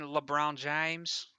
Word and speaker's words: LeBron James: Do you mean LeBron James? I certainly do. Sorry, I just I I decided to correct your pronunciation there.